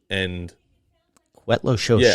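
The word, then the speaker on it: Cuetlaxochitl: Yeah, it's spelled differently than how it sounds, which I think is a lot of it.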